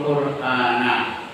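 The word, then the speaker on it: القرآن: wasallam yaakulu bersabda, "Iqraul qurana bacalah Quran." Iqraul Quran bacanya na bukan ni, bukan nun ya. Karena ini dalam bahasa Arab itu sebagai objek.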